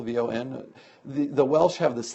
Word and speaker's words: Vaughan: actually how do you pronounce her name bro vaughn it's a single syllable v-o-n the the welsh have this thing about wanting